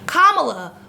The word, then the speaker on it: Kamala: And I'm positive part of Kamala's strategy, Kamala, let me get that extra syllable correct, is to re-galvanize the center-right voters who voted for Obama in 2008.